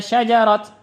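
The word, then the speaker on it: شجرت: Kalau waqaf inna syajarat.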